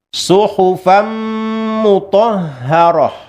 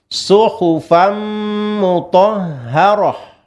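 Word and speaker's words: صُحُفًا مُطَهَّرَةً: Contoh idgham bi gunnah misalnya huruf mim, suhufam mutahharah. Suhufam kita leburkan huruf tanwin dan huruf fa dan huruf mimnya ya, fa bertanwin dan mimnya. Suhufam mutahharah. Kita panjangkan 2 sampai dengan 3 harokat.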